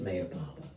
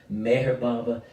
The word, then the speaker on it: Meher Baba: Baba's name could be but I pronounced my hair Baba mayor Baba Meher Baba when I kind of prefer because the age is sort of silent but just breathed into such a beautiful name to those of us